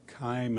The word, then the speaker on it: Keim: committee for the record my name is Kim and that's spelled ke IIM uh I'm a lobbyist